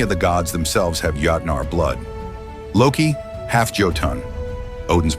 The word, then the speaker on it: Jötnar: this Saga all right first off it's pronounced Yar I see you struggling as often translated